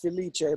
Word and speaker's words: Filice: Ayer Frank I'm gonna destroy your last name brothers at the lice police release I'm Italian it's pronounced Felicia but I just go